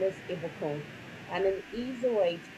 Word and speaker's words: Ibukun: start introducing myself um my first name is ibakone and an easy way to pronounce it the French go Messi Goku puts